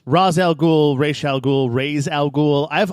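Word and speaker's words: Ra's al Ghul: the the resident expert how do you correctly pronounce his name because I think in this game they say race al Ghul yeah they it it really because it's a comic it's it's Raz al Ghul Rachelle Ghul raise algol I've always pronounced it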